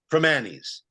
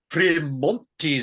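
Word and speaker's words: Primanti: For the love of all that is holy, stop pronouncing the T in Primanis. It's pronounced Primanis. This Primontes stuff makes it sound like a classy establishment, and the best ones are the exact opposite.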